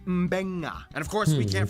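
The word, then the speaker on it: Beqa: And just remember, in the Fijian alphabet, C makes the th sound, D makes the nd sound, B makes the mb sound. Both Q and G make the ng sound. Therefore, the town of Nadi is actually pronounced Nandi. And this word is pronounced Mbenga.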